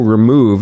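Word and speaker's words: rmoov: months of your tool remove. Am I saying that correct? It's just you pronounced it like remove, like the word remove.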